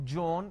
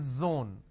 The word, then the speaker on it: zone: jar it's a mispronunciation it's not jibra it's zebra it's not john it is zone it's not g it is zeal it's a z sound another mistake that people